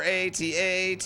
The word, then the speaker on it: AT-AT: Killed the AT-AT. your AT-AT.